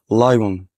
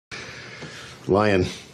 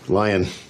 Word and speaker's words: lion: مفيش حاجة اسمها ليمون، مفيش حاجة اسمها لايون. اسمع كده وتعال اقول لك ازاي تجيبه صح. تابع معايا. lemon, lemon, lemon. Lion. Lion. Lion.